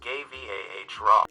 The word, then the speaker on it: Guevara: chase is right and his last name is pronounced gay vah raw coffee is a magnificent